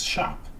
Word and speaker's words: scop: SC sounds like SH, so you pronounce scop as shop.